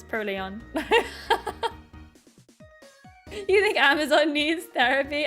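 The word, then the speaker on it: Purrloin: No, it's per lion. Trust me. Trust me on this. Trust me, it's Pearlon. Trust me. I am I am known to be 100% right in my way of pronouncing Pokemon names. It's Pleon.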